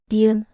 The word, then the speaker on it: 니은: 니은, 느. A soft n sound like in no.